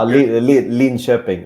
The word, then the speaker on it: Linköping: So, you decided in 2012 to go to Lincoln Ping FC. Again, I probably said the name very badly. Is it all right? Okay. Lin Sheping. That's that's the Swedish pronunciation.